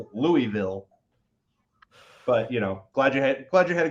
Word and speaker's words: Louisville: Got to get that flat pronunciation in there, Louisville.